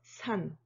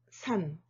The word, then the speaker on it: 산: Mountains are 산, 산.